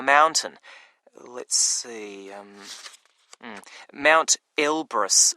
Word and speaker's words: Elbrus: let's see um mount elbrus it's called wow now that's really quite something by the way elbrus is spelled e l b r o s isn't it not quite it's u s ah okay what qualifications